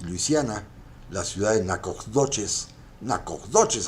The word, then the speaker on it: Nacogdoches: Nacogdoches, así se se pronuncia la ciudad.